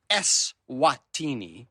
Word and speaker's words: Eswatini: Eswatini, as the country is pronounced, is one of the smallest countries in Africa and the continent's last absolute monarchy.